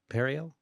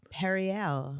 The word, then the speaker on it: Periel: Well, you pronounced my name weird too just now. Periel? Yeah. Oh, emphasis on the wrong syllable. That's not even a real name. Your mother made it up. Periel.